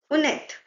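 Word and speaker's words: honnête: Now, you can hear I'm pronouncing the T, unet. Why? Because now there's a vowel after T. So, whenever there's a vowel after T, you're going to pronounce this. Okay, next word is host.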